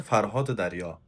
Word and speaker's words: فرهاد دریا: E Farsçasını söylemek istesen, o telaffuzda söylemek istesen, Ferhat-ı derya.